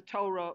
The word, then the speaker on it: Torah: Look into the wisdom of God, the guidebook called the Torah, which rhymes with Mora, which means teachings.